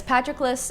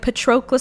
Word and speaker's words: Patroclus: her i did yeah and uh but yes patroclus and how he sees himself is really crappily